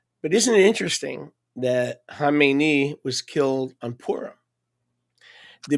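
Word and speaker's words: Khamenei: and by the way, people can't pronounce it. They say Kmeni. That's not Kmeni. Kmeni is the guy that he succeeded. Okay? It's Hamemeni.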